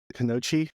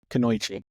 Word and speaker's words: kunoichi: Kanoichi. Am I? How do you say it? You can do Kanoichi. it. Kunoichi.